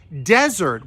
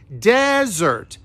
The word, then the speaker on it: desert: 1s is pronounced as desert with the stress on that first syllable desert it's hot in the